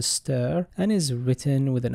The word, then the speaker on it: str: and a string slice the latter is usually pronounced as a stir and is written with